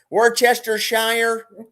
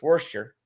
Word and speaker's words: Worcestershire: Snow goose and but when you do the goose with the ginger and some brown sugar and Worcestershire sauce, Worcestershire, as you Americans say, Worcestershire. It's Worcester.